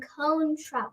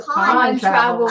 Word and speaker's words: Con Travel: And we have a special treat from Cone Travel. No, Con Travel. Okay, it looks like it's spelled Con Travel.